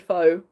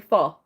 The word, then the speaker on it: pho: I'm trying to pronounce it correctly, because I was always one of those people that said pho, but it's apparently pho.